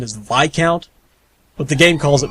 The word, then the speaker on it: Viscount: believe actually to be technically correct the proper pronunciation is VI count but the game calls it Viscount so okay